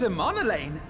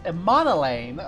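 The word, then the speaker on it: Emmanellain: Lord Amonelane! Is that how you pronounce it? Emonelane.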